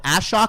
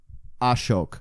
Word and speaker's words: Ashok: I'm like, so Ashok. He's like, it's Ashok. I'm like, oh, okay, cool.